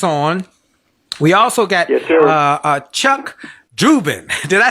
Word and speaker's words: Dubin: We also got Chuck Dubin.